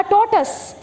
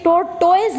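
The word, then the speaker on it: tortoise: अ टॉर्टस, बच्चों ये टॉयज नहीं होता, इसकी प्रोनाउंसिएशन को ध्यान करो, ये टॉर्टस होता है, टॉर्टस।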